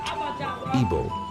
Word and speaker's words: Igbo: In their language, they pronounced it Igbo.